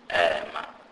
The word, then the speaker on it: ema: The letter E is pronounced as A, and it is pronounced like the E in the word there. Example, ema, which means stop or stand up.